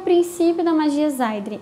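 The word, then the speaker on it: seiðr: E também passou o conhecimento da magia Zaidri, que se escreve S-E-I-D-R ou alguma variação disso.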